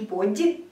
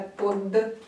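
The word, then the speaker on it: подъезд: Они служат для обозначения твердости, как, например, в слове "pod'yezd". Обратите внимание на "под'езд". Не « подье», а «подьезд».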